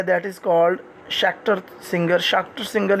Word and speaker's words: Schachter: है that is called शाक्टर singer ही हम इसको पढ़ते हैं। वैसे शास्टर भी हम पढ़ते रहे इसको, लेकिन आप प्रोनाउंसिएशन चेक करें तो शाक्टर मोस्टली आपको मिलेगा। तो शाक्टर सिंगर थ्योरी हमें